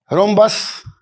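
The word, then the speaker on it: rhombus: are equal similarly in this cases अब देखिए रोम्बस अब यहां पर देखिए H को साइलेंट बोलते हैं रोमबस अब बच्चे घबरा जाते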